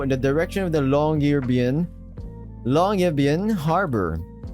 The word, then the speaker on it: Longyearbyen: With a flourish of his arm, we all started tromping through the snow in the direction of the Longyearbyen Harbor. Wait, Longyearbyen. It's like bin.